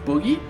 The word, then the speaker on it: Bughy: map it is going to be Boogie it's pronounced Boogie and he is going to be playing for